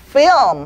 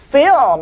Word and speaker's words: film: L 발음과 M 발음이 같이 연결되면서 film 한 번 더 film 한 번 더 film 이렇게 소리가 나죠.